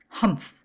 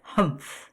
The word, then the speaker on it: humph: Humph, said Anthony, and he said it as it is spelled, which is unusual and startling. What did you say? Lady Blair inquired. I said humph, Anthony replied.